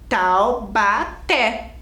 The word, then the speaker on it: Taubaté: quero saber a última olha aqui Taubaté Qual que é a sílaba mais forte é o té né olha lá é